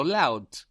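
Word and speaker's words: laut: the word vort the word for word which is spelled w o r t vort we so loud which is spell l a u t cult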